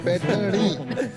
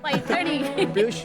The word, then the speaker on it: पैठणी: स्लोनी पैठणी, वो जरा प्रोनाउंसिएशन इनका चेक कर दीजिए। पैठणी। पैठणी।